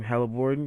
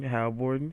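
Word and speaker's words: Haliburton: Halliburton. Halliburton.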